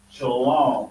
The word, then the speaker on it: Shalom: letting you know that you will see it written like this but it's still pronounce Shalom like that still pronounce